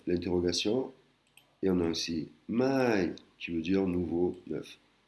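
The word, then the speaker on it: ใหม่: Là, on a vu mai, la négation, mai, l'interrogation, et on a aussi mai, qui veut dire nouveau, neuf. Ça se lit, ça se prononce exactement pareil que mai, qui veut dire, qui est la particule d'interrogation, mais ça s'écrit légèrement différemment.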